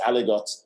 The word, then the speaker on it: aligot: So it's not Bras, it's not Aligot, it's Aligot.